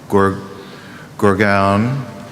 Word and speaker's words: Gurgaon: but I think there's a more specific city, Gurgaon. Am I pronouncing it right?